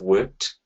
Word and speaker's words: worked: So we have worked with the k, which goes into a t.